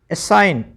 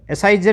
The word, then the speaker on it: assign: ठीक है, असाइन, ASSIGN, एसाइजन नहीं, क्या पढ़ेंगे इसको? असाइन।